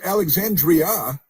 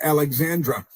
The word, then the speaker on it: Alexandria: Alexandra is extraordinary Alexandra it's it's as Alexandria Not Alexandra these people where do